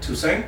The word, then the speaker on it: Toussaint: Toussaint.